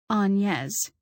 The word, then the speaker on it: Agnes: Robbie, at 16, was tall and ethereal looking, like his mother, my aunt Agnes, pronounced Anes, not the American way.